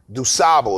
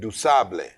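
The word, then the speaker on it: Du Sable: by a haitian immigrant named jean baptiste dusabo is what we say but he said dusable so i said what did you say so it's jean baptiste yeah wow that's how i pronounce it now there could be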